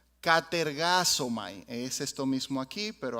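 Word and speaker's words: κατεργάζομαι: español se traduce como ocupados en griego se pronuncia catergazo Mai es esto mismo aquí pero aquí está transliterado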